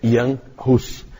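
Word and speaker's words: Jan Hus: não conhece não sabe com pronuncia mas a pronúncia é Ian Russos na verdade Ian é um apelido para iorranes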